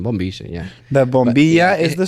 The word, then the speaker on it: bombilla: We call it bombilla in Spanish. Bombilla. Bombilla. That's the correct pronunciation. Bombilla.